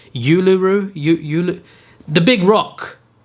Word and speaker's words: Uluru: it pronounced it's not i used to say uluru apparently is that's not it's pronounced uluru you you the big